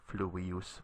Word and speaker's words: fluvius: Notice that you put the accent on the u here, fluvius, because the I here is short. There's no macron over it, and it's not a diphthong.